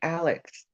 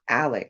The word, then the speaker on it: Alex: that's his name right Alex his name is not Alec why are they calling him I don't know Alec it's Alex in it it's l-a-l-e-x Alex but maybe they just pronounce it Alec I don't know and